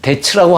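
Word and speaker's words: debts: 영어 성경에 보면요, 이 데츠라고 하는 단어가 종종 등장하는데요, 비는 여기서 묵음입니다.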